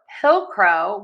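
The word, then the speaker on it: pilcrow: So for pillcrow, we are going to stress syllable number one, pill, and then end with crow.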